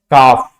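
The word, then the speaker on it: calf: प साइलेंट हो जाएगा अगर एफ के साथ आता है तो भी साइलेंट होता है फॉर काफ हाफ बहुत इजी है काफ मतलब य बछड़ा और हाफ मतलब आधा यहां पर भी एल साइलेंट होगा यहां पर भी एल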